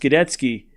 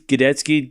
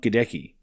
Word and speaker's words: Gadecki: She's like, "It's actually pronounced Gdetski.